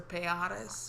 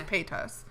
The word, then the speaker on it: Paytas: Is it Paytas or Payatis or Payatis? I've heard some people say it wrong. Payatis. I've heard some people say like Piatis. I think it's Trisha Paytas. I think it's Paytas. Okay.